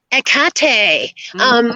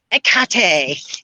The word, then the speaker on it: Hecate: So yes, we're going to talk about Hecate, which is the way my friend Catherine Sorelos, yes, I'm a name dropper, said that you should pronounce it.